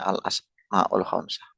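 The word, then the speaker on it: الأسماء الخمسة: Berikutnya al-asmaul khamsah, yang benar pengucapannya al-asmaul khamsah.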